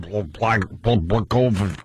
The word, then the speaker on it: Blagojevich: So we go to break with Jim commenting on Blagojevich. How do you say his name? Governor of Illinois. Does anyone have the real pronunciation?